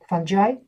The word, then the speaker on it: fungi: of every microbial Community are fungi funi As Americans would pronounce it and then um fungi